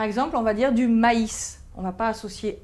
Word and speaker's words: maïs: Il indique qu'on doit prononcer cette voyelle de manière séparée. Par exemple, on va dire du maïs.